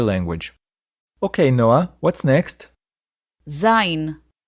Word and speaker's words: זין: Zain. The letter Zain sounds like Z.